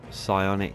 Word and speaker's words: Psionic: who else is there psionic edge again I think that's a silent P listen to this oh